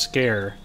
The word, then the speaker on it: Sker: thought it was pronounced skur but apparently i think it looks like it's pronounced scare which is kind of on the nose a little silly oh